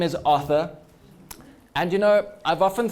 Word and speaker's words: Arthur: they absolutely butcher it somehow it goes from Authur to auur from a th to an F which makes me say